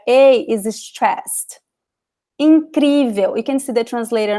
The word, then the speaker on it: incrível: Incrível, you can see the translator on the side here, okay? Incrível. Incrível, you see the accent here, so you know that the letter I, it is very stressed.